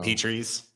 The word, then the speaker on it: Petries: Oh, and also thank you for pronouncing it correctly. I didn't have to correct you on anything. So the Petries. Yep. We are not a petri dish.